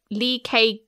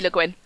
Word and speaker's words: Le Guin: of ersie by usher lee is that how you pronounce her surname actually okay le guin there we go just like the dyslexic